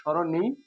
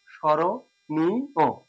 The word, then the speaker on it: স্মরণীয়: সাথে যুক্ত অবস্থায় আছে, এক্ষেত্রে ময়ের উচ্চারণ নেই, নেই, কিন্তু আমাকে যখন উচ্চারণ করতে হবে সেক্ষেত্রে এখানে নাসিক্যটা, যেহেতু ম একটা নাসিক্য ধ্বনি, এখানে স এর উপরে একটা চন্দ্রবিন্দু ব্যবহার করে নিতে পারি। স্বর নিয়, যতই রস্বইকার দীর্ঘিকার থাকুক, ডান পাশে যখন উচ্চারণ লিখবো অবশ্যই রস্বইকার দিয়ে দেবো, স্মরণীয়, স্মরণীয়, সঠিক উচ্চারণ হয়ে গেল স্মরণীয়।